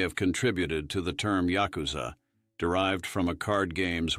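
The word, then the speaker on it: ヤクザ: This unfortunate combination is formed by drawing the cards 8, 9, and 3, pronounced as Yakuza in Japanese.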